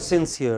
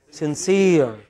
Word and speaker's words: sincere: NC e ar e what is it sincere okay it is not since here it is sincere ok so there are